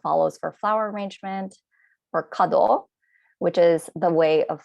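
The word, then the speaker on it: 華道: the top calligraphy it's written here and it's pronounced shodo flower arrangement is kado tea ceremony is sado and even if you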